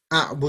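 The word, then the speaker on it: أعبد: A'budu. But how does it, Yep. how do you say it when it's alif ain like that? A'budu. It's still short.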